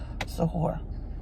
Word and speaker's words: suhoor: Yes, the small meal that we have before sunrise is suhoor, that in the Arabic language. Sometimes, I guess some people pronounce it differently, but that's what the Arabs pronounce it, or at least some of them do.